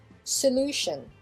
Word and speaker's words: solution: Ici, donc, on mettra un peu l'accent sur la deuxième syllabe, c'est-à-dire que c'est la deuxième syllabe qui va être un peu plus en avant, et donc on dira solution, solution, solution, solution.